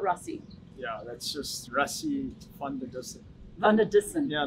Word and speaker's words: van der Dussen: Van der Dussen. Dussen. Fun. Fun. So it's more of an F. Well, it's a V, which you can say use an F, but not for spelling, but pronunciation.